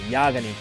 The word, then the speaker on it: Yagami: I was saying it right, Yagami. I probably at one point I'll say Yagami by accident. I'm sorry if that happens, but for now, let's hope I'm saying it right with Yagami.